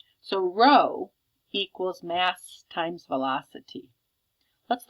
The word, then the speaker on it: rho: p it's the Greek letter r which is pronounced row so rho equals mass times velocity let's look at the